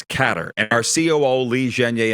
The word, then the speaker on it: Qatar: it out of the bag now it's not Qatar it's catter and our CEO Li zhenge informed me of that he's been there when did you realize that it's pronounced catter and are we going to get the whole